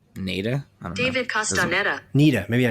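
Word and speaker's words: Castañeda: David Castaneda.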